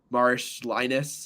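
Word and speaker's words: Marčiulionis: Also, West Coast Conference Player of the Year, Augustus Marsh Linus, I believe is the pronunciation there.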